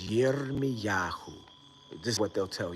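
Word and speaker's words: ירמיהו: So in Hebrew, Jeremiah's name is Yirmiyahu.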